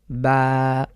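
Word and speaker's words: ب: থেকে খুব স্বাভাবিকভাবে আমরা বা ঠোটের কোনরকম বাড়তি কোন ব্যবহার হবে না। আমরা ঠোট মিলাবো না বা ঠোটকে বেশি উন্মুক্ত করবো না। যেভাবে রয়েছে ঠিক সেভাবে আমরা উচ্চারণ করব।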